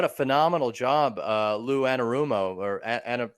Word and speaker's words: Anarumo: candidate but what a phenomenal job uh lou annarumo or ana anarumo yeah that's how you pronounce it the defensive coordinator for the bengals